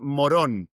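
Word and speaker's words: Morón: The name is so funny because my city is, the pronunciation is Moron, but it writes Moron, like moron.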